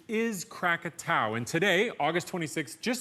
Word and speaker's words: Krakatau: Mount katow now most people know it as katoa but the correct pronunciation is katow and today August 26th just so happens to